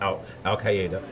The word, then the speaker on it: Al Qaeda: People talk about ISIS and people talk about they still talk about Al Qaeda. That's how you pronounce it.